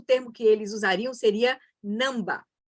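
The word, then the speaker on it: ནང་པ: que eles usariam seria namba é um termo em tibetano não sei como se escreve exatamente mas a pronúncia é essa não dá significa apenas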